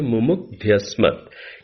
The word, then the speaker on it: मुमुग्ध्यस्मत्: संधि को यदि विच्छेद करें, मुमुग्धि, मुमुग्धि प्लस अस्मत्, मुमुग्धि प्लस अस्मत्, ये मिलकर के क्या बन जाता है? मुमुग्ध्यस्मत्। ये केवल मैंने उच्चारण की दृष्टि से, चूंकि बृहद यज्ञ के अंतर्गत आप लोग इस मंत्र का उच्चारण करते हैं और कई बार इस पद पर हम लोग अटक जाया करते हैं, इस दृष्टि से ये मैंने आपके सामने संधि भी तोड़ दी है, मुमुग्धि धन अस्मत्।